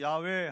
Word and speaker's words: 야훼: 여호와는 어디도 없는 우리 한국식 발음이에요. 히브리식으로 야훼 하든지 아니면 영어식으로 저호바 하든지.